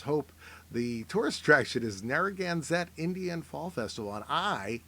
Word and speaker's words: Narragansett: The tourist attraction is Narragansett Indian Fall Festival, and I can pronounce that correctly because I like their beer.